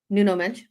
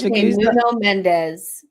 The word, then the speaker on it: Nuno Mendes: But I really, Nuno Mensch. Oh, Mendes. Fair enough. Accents in that. Okay. Okay, reporter. Okay, Nuno Mendes.